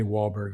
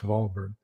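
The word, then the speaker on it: Walburg: in Texas we say wallberg although in German it's volberg uh W's in German are pronounced V like a V and uh a v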